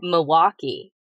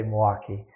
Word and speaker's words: Milwaukee: the face I'm making you pronounce Milwaukee with an L which proves that you're not from Milwaukee is it how do